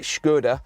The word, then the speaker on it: Skoda: for your money and as I should be pronouncing it shkuda which is how they now apparently say on the adverts so we have fitted